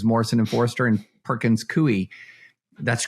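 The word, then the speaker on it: Coie: equal rights versus Morrison and Forester and Perkins cui that's correct pronunciation yes it is yeah and so yeah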